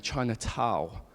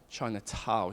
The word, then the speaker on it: Chinatown: with her friends and she kept saying Chinatown China Tau she couldn't pronounce that n right at the end and because I'd done